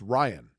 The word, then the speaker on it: Ryan: ryan you're saying it you're saying it in the same number of syllables that the word wrong is it's ryan i know how to pronounce ryan let me ask you the kind of bread a marble what rye okay the opposite of out n okay put those two together ryan i'm saying it's two words matt ryan if